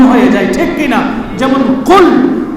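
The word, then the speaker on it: قل: হে রাখাল শব্দকে পরিবর্তন করে দিয়েছে যেমন সঠিক উচ্চারণ করতে না জানলে আরবি শব্দের অর্থ ভিন্ন হয়ে যায় ঠিক কিনা যেমন কুল হে নবী আপনি বলেন হু আল্লাহু আহাদ আল্লাহ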